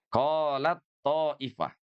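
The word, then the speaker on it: قالت طائفة: Jadi huruf ta itu lebur sepenuhnya kepada huruf to, ya.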